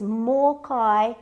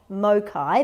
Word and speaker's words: mōkai: video you'll know that this is more kai not mokai because it's and you'll see there's a macron above the morkai so that means the more is pronounced a little bit long taku my pet my